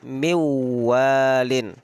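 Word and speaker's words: مِنْ وَالٍ: Contoh, yang asal katanya min walin dibaca miwalin.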